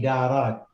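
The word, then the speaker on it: إدارات: Idiarat. Oh, okay. Sorry. Ken. Yeah, sorry. I made a mistake. Yeah, that was throwing me off. Okay. Now, it should be idarat.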